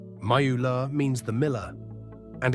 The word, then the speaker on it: Müller: Germans say Mew-loo. Through that U sound English simply doesn't have. How does your family say it? Comment below, and tell me which one is actually right. Müller means the miller and